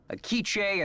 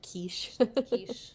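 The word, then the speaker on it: K'iche': several indigenous languages including akiche and najuato but i have yet to learn the language of glyphs yeah so it is not quiche like the french pronunciation uh is there a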